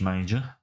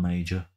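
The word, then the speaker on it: Maja: standard player on Josh major m it's pronounced Maj not major well send him on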